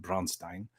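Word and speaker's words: Braunstein: Um, I got uh to play the original Bronstein, and that's how you pronounce it, Bronstein.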